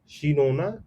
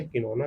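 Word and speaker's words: cinchona: The bark of दी शिनोना tree. ये जो है कि इसको प्रोनाउंस कर लेंगे। शिनोना कहेंगे किनोना कहेंगे। ये शिनोना ट्री में पहली बार जो है कि यहां से निकाला गया था।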